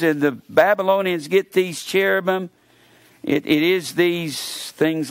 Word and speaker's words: cherubim: man and these are called cherubim or cherubim that's where we pronounce it c-h-e-r-a-b-i-m and these cherubim this